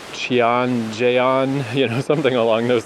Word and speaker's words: Cheonjeyeon: But the bus voice said something more along the lines of like Ching is how they pronounce the Chian and then the Jon is like similar to Jet Chan. So that makes sense that that would be a Chan.